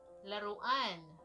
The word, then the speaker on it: laruan: Laruan. What is laruan? Playing. No, toy. Okay. No, laruan. Laruan. Yeah. Spell it out.